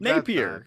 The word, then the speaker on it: Napier: you pronounce it yeah jack napier napier not napier napier napier you're saying it like napier like he's french like napier napier yeah it's not nate pierre what the hell you